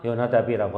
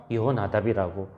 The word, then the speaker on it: 요나답: 그러니까 발음상 요나답이라고 하기도 하고 여호나답이라고 하기도 할 뿐입니다.